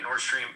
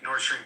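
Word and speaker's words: Nord Stream: believe that the uh am I saying it right northstream wait nordstream two yeah the one that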